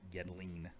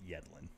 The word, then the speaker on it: Yedlin: Yedlin, according to some announcers over in the English Premier League, which is really grates on my nerves to hear it pronounced Yedlin, because it's Yedlin.